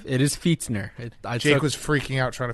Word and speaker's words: Fichtner: He says Did you pronounce that correctly? It is Fichtner. Jake was freaking out trying to figure it out. I took like 20 minutes to find it out. Fichtner. Fichtner.